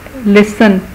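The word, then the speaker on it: listen: फिर हम देखते हैं कि लिसन, सुनने को कहते हैं, इसमें टी साइलेंट है।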